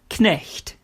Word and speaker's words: Knecht: Similar to a g, a k followed by a n doesn't become n, like in the English word night, but it becomes kn, like the German word Knecht, meaning servant.